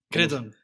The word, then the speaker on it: Cretton: Hoy con nosotros tenemos un invitado de fuera, chileno, Crotón o Croton. Cretón. Cretón. Sí. Cretón. Cretón. Exacto.